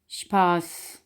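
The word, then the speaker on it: Spaß: एस पे, एस पे sound बनाएगा जैसा कि श, इसकी मिसाल है शफा, शपे, शपी, ठीक है। और इसकी एग्जांपल है जैसा कि शपास, शपास यानी कि फ़न या फिर मजाक, ठीक है।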